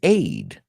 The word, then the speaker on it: aide: because the person provides Aid are you the aucilio Primera auxilio aid aid but the but when it's the person we're talking about we add an e it's pronounced exactly the same so an aid gives